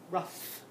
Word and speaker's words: rough: but in this case do you hear the F sound at the end ruff ruff it's making a f sound here's another one it